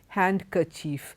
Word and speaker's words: handkerchief: sandwich Wednesday handsome handkerchief in all these letters the D is silent okay and that is